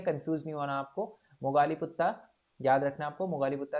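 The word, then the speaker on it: Moggaliputta: ठीक है, आपको याद रखना है बस, मगाली पुत्ता पुत्ता भी बोला जाता है इनको। ठीक है, मोगाली पुत्ता बोला जाता है, या मोगाली पुत्रा भी बोला जाता है इनको।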